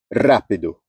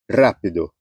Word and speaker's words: rápido: vão ser acentuadas exemplo rápido rápido ó esse ra é a antepenúltima sílaba Então você Vai contando